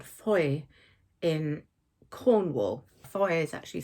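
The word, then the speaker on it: Fowey: in a place called Foy in Cornwall. Foy is actually spelled F O W E Y. So it looks like Foye, pronounced Foy.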